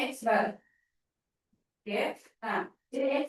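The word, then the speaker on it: x̄: Itu bacanya X bar.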